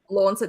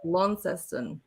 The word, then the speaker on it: Launceston: wow in Tassie because I always called it launch it they call it Launceston apparently it's pronounced Launceston I'm slowly getting educated on that right pronunciation